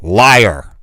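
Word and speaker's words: Lyor: Listen, is that how you pronounce his name? L Y O R. Liar.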